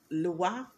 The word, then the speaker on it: lwa: Okay, so the pantheon of Loas or Loas is pronounced either Lua or Lua. Okay, Lua or Lua. So LWA is Lua, and LOAs are Eloa or Loas.